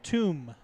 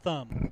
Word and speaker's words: Toom: It's tomb, not thumb.